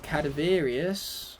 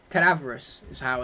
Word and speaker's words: cadaverous: used to call it cadaverius or however other ways i used to pronounce it i i have a way though it was wrong i can guarantee you that much cadaverous is how it's pronounced and uh speaking of